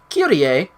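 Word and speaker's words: Kyrie: sword but when demon started medicine his ladylove QTA yes that's how they pronounce it he figured it was time to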